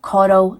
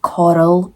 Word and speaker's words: Corll: so Dean Arnold Coral I'm going to have to say his name like Coral because Coral as Scottish people we can't do it right so Coral he was